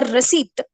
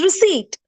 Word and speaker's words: receipt: you say Co and why do you wrongly pronounce this word re or receipt this is receipt try to focus on